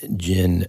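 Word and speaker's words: djinn: look up the word Jin and if you're curious listeners there's a couple different ways to spell it one is with a d and in that case the D of course is silent so it's DJ i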